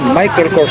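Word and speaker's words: Michael Kors: Yan po yung pronunciation Michael Corse tapos ito pa yung ano niya strap niya.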